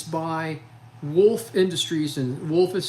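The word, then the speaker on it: Wolff: This is a twice as sharp, and it's by Wolf Industries, and Wolf is spelled W-O-L-F-F, Wolf Industries, and they're out of Spartanburg, South Carolina.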